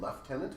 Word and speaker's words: lieutenant: you yeah see everybody did you know that lieutenant and left tenant are spelled the same English is f left tenant has no f in it what does that